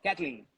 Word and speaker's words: Kathleen: Como é que eu pronuncio o seu nome? Kathleen? Isso, o correto seria isso mesmo.